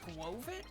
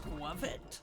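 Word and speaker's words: Skwovet: I've also used, I found out it's not pronounced Squovit, it's pronounced Squovit, like covet, like squirrel and covet.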